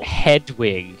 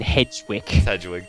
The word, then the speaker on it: Hedwig: the pidgeot was nester oh hedwig oh yeah not freaking hedgewick you i tell you